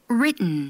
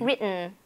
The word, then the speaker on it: written: 우리 같이 발음 연습 좀 해보도록 하겠습니다. written, written.